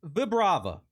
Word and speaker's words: Vibrava: It's actually pronounced Vibrava. I literally just Googled that to make sure.